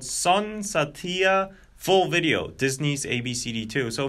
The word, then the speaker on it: Sun Saathiya: Sun Saathiya, so that's the pronunciation.